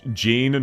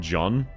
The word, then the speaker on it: Jean: It's Jean, not John. Oh, gotcha. Gotcha. I was pronouncing it John as in Jean the Ark.